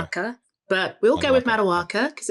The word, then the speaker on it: Maduaka: And actually it's Maduaka because I am Nigerian, but we will give the... Wait, can you say it again? Maduaka. So our listeners know, so you know. Maduaka.